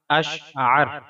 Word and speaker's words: اشعر: ہے۔ تلفظ اور اعراب۔ اشعر، الف پر زبر، شین پر جزم، عین پر زبر اور را پر جزم، یعنی الف شین زبر اش، عین را زبر عر، اشعر۔ معنی۔ مختلف ویڈیوز اور